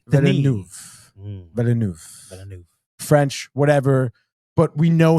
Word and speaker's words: Villeneuve: But his name is Denis Villeneuve.